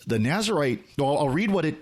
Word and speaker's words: Nazirite: And what the Nazarite Challenge is doing, or Nazirite is actually probably a closer term. Jimmy, you might know better than me on that, but that fuses a couple of different pronunciation schemes.